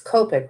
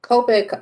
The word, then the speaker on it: Copic: went yesterday to blick and that they're it's copic right yeah that's how they pronounce it i've always said copy so copic um they're actually cheaper if you buy them